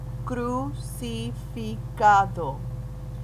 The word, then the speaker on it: crucificado: He sido crucificado. The C in the beginning and the C before the A are both sounding like K's.